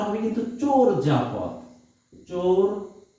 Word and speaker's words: চর্যাপদ: চর্যাপদ এই দেখো আমি নিজেও বললাম চর্যাপদ আসলে উচ্চারণটা হবে কিন্তু চোর যাপথ চর যা পথ চর যাপথ চোর যাপথ আমরা কিন্তু এই উচ্চারণটা ভুল করে বলি চর্যাপদ চরজাপথ বলি আসলে উচ্চারণটা কি চোর যাপথ এরপর